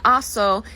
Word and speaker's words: hago: The reason why is if you put an O, H-A-C-O, it would no longer say hago, it would say haco, because a C with an O following it is a hard C, k, instead of a soft C. S. So just to get rid of that, they just do hago.